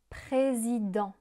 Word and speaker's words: président: Le T final est muet. Permanent. Détergent. Ambivalent. Président.